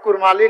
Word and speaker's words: कुड़मी: विभिन्न विद्वानों के मतानुसार कुड़मी समुदाय का नाम उच्चारण हार्ड डी या सॉफ्ट डी यानी र अक्षर के साथ स्पष्ट रूप से कुड़मी के रूप में एवं इनके मातृभाषा नाम